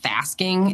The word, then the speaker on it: fasking: uses a word, it's it's pronounced fasking. It's like thinking and asking within the same infrastructure and we talk about